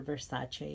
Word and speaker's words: Versace: And I wanted the Naomi Campbell 90s shows from Versace, or Versace if you're like a pronunciation aficionado.